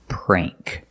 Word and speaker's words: prank: it's mean that's a prank and it has the long a sound prank you can say it